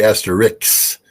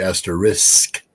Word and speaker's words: asterisk: S before the cut well I I say Asterix and that's wrong all right that's absolutely incorrect so it has to be asterisk yes um but again I the less because